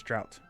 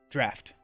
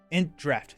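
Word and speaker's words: Draught: We have the Int Drought? I think it's Drought. We just got a lot. Let's go. I think we're going to hit a lot of tempo right here. Draft. Int Draft. Thank you.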